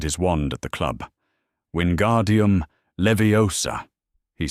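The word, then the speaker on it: Wingardium Leviosa: "Wardium leviosa," he said. The pronunciation was exact. 3 weeks ago in charms, he had said it wrong. Wingguar dime, the stress in the wrong place, and Hermione had leaned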